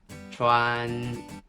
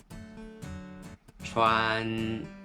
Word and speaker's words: 川: It's pronounced in Mandarin, 川, 川.